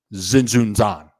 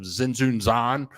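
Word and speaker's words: Tzintzuntzan: to psaro uh into zenun Zan and I was freaking out about the pronunciation of zenun Zan but the t is silent and it was a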